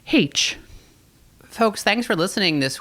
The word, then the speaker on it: Heche: Also, her last name is pronounced Heche, which I had never heard before, but we confirmed with her before.